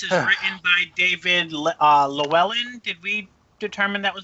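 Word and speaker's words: Llewellyn: so apparently this is written by David uh lellan did we determine that was the right pronunciation Luellen Luellen okay it also marks the return of Shan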